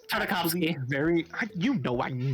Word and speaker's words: Tartakovsky: this is another Tartarovsky show. It's Tartakovsky. very. You know, I'm not gonna pronounce Tiddly it right.